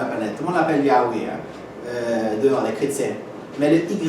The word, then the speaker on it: Yahweh: Si le H se prononce A ici, à la fin il finit par A aussi. Ouais, c'est vrai. Et non? Alors finalement c'est Yahweh.